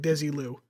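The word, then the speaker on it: Desilu: Desi yeah that one it's Desi and L Lucy like Desi Lou and Luc okay uh there were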